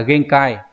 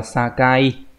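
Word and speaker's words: 境: làm ranh giới chứ không phải là genkai. Đây là dùng từ sakai nhá, cái này đọc là sakai.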